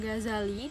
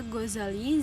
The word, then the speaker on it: Ghazali: Namanya kadang diucapkan Ghazali 2Z, artinya tukang pintal benang, karena ayah beliau pekerjaannya adalah sebagai tukang pintal benang wol. Sedangkan yang lazim ialah Ghazali, Z-nya 1, diambil dari kata Ghazalah, artinya adalah kampung kelahirannya.